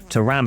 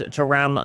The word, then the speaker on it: Thuram: So Hansen and Thuram, or Thuram as the people pronounce it, is going to start in this highlight game against the OL Stadium against Lyon here.